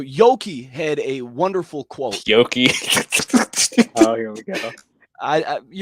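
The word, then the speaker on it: Yockey: Yoki.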